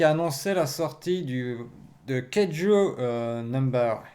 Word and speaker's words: Kaiju: La news suivante, c'est Kaze qui a annoncé la sortie de Keiju Number 8, ou numéro 8, si on prononce en français, c'est Kaju. Kaju numéro 8, ça fait très bizarre, c'est la française.